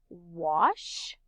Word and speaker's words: wash: say well ash but when an a is followed by a w it makes that ah sound like in the word